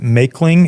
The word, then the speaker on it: Maechling: His username, I can't see the full username, but his name, if you were to look him up, is Simon, I think you pronounce it Maekling.